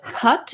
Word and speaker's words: cut: question about um cut versus caught um so cut is the same one that we were just